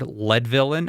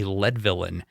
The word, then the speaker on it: Leadvillian: And he's also a year-round Leadvillian. I understand that is the correct way to pronounce a resident of Leadville, a Leadvillian.